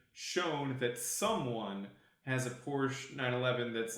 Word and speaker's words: Porsche: and then being shown that someone has a Porsche 911 that's like really cool.